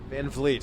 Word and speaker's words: Van Vliet: Chris, did you pronounce it Van Vliet? Van Vliet, very close. Yeah. It's like freaking Van Halen, man.